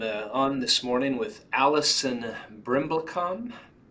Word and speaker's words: Brimblecom: morning I am on this morning with Allison brimblecom how do you say your last name is